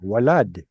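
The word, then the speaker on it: ولد: Well, it's going to have a wa sound at the beginning, walad.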